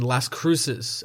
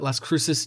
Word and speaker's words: Las Cruces: 2 days later, in Las Cruces, I believe that's how you pronounce that, Las Cruces, New Mexico, Syed Al-Anzani was a 59-year-old who died on January 27th.